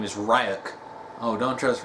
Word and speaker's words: Ryuk: cipher but uh but it's funny because light pronounces his name is ryuk oh don't trust right up and then ryu